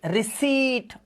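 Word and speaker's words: receipt: ई की मात्रा ई अब इसमें देखो पी हमेशा साइलेंट होता है ध्यान रखना इसमें याद रखना बच्चों पी को नहीं पढ़ा जाता लोग रिसीप्ट बोलते हैं इसको this is wrong pronunciation please keep this thing in your mind. व्हनेवर यू see this word, व्हनेवर you have to speak this word, keep your peace silent always say रिसीप्ट।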